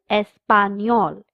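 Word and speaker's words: español: The third subject is l espanol Spanish. The N has a curly line on top. So we pronounce it as near.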